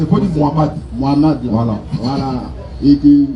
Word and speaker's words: Mohamed: Mohamed, je ne peux pas prononcer, il faut dire Mohamed.